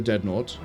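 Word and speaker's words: Deadnaut: way because it's um d e a d n a u t. Uh it's n as in astronaut but dead. So it's like deadn.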